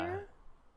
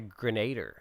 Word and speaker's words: Grenadier: Yeah, I know it's easy pronunciation, but dyslexia is like, nah. Grenadier? I Like, always want to say Grenader every time I see it, and I'm going to continue to.